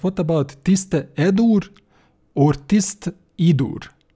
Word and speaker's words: Tiste Edur: Okay, what we forget about Andy, but what about Tiste Edur or Tist Idur? Tist Idur have it sound right to me, although I was pronouncing it Tist Edur, but Tist Idur sound right.